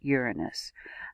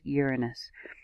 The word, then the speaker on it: Uranus: and yes my friends it has always been pronounced uranus not sure when the name was altered in today's society but it is uranus try it out say